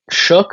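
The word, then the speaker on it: Shough: They drafted Tyler Shook, I think. I think you pronounced that GH as a K, if I remember correctly.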